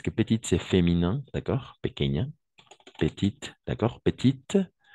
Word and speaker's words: petite: petite c'est féminin d'accord petite on va prononcer le thé et petit et oui comme ça de façon petit petit tout simplement si on doit faire la prononciation petit d'accord et petite avec le t à la fin OK et pas la